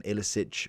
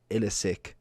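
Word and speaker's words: Iličić: Last year, I think he's very much like an Ilicic or Ilicic. I'm going to say it's no itch because there's no H, but I've probably annoyed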